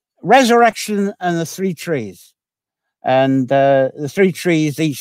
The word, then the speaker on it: trai: It's Resurrection and the Three Trees. And the three trees, each spelled T-R-A-I, pronounced tree.